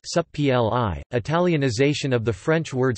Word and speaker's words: Supplì: Supplì, pronounced supp-l-i, Italianization of the French